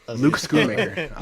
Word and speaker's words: Schoonmaker: Is that how you pronounce Schoonmaker. it? Schoonmaker? Schoon.